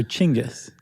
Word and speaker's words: Genghis: You pronounce it chingis.